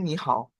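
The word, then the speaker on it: 你好: Contoh, ni kan artinya awalnya awalnya kan nada ketiga karena ketemu hao yang nada ketiga juga. Nada ketiga ini dia berubah jadi nada kedua. Jadi ni hao.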